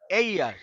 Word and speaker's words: heir: আর এটা এই ইয়ার, ইয়ার, এই ইয়ার মানে এয়ার না, বাতাস না কিন্তু, এয়ার না, এই ইয়ার,